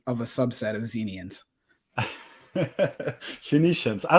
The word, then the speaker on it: Phoenicians: It was hard to pronounce, but Phoenicians.